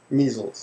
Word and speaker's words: measles: and which one is the disease measles it's a longer sound me I guess that's